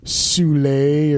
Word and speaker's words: Soule: Soule, or apparently his name is pronounced Soul. Sorry. Was I the only one who thought it was pronounced I thought it was Soule too, man.